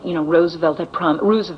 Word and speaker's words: Roosevelt: She said that, Roosevelt it's pronounced, had promised everything to labor.